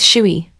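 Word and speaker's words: chui: Shuy pronounced like chewy with a forceful exhale which is associated with the kidneys.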